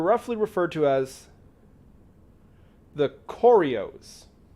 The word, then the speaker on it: Koryos: But they were roughly referred to as the Koryos. K''O''R''Y''O''S. Koryos. I think that's how you would pronounce it.